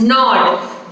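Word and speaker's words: gnawed: a w e d you will pronounce the word as not g is a silent letter so what is the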